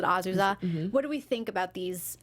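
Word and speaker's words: Azusa: characters uh Marie Justin azuza is like how they pronounced it right yeah it was like Aza but azuza what do think about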